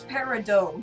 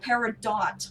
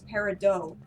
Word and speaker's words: peridot: Yes, the pronunciation for peridot is peridot, not peridot. I don't know. I honestly, I mean, you can pronounce it that way, but the correct pronunciation is peridot.